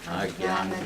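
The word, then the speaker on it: अज्ञान: Ваджатам прити пурвакам дадади будхи йогатам Yenamam upayantite Тишам Иван Кам Паркам Ахам Agyana Аджнана Tamaha. Аджнана Джам. Yeah, that Janna, it's pronounced Gya. Agya.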